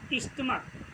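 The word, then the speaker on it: stomach: जैसे स्टमक। क्या है? स्टमक। इसके अंत में देखिए सी एच आता है, लेकिन इसका जो प्रोनाउंसिएट किया गया है वो का से किया गया है।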